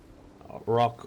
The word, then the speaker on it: Roq: Yeah, that was with the Rock, spelled with a Q, correct? Rock ROQ, yes.